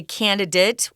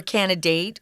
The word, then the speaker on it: candidate: of this word candidate they're both correct you can say candidate which is what I say or candidate which is how Tom typically pronounces that so if you have